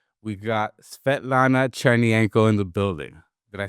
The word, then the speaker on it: Svetlana Chernienko: We got Svetlana Chernienko in the building.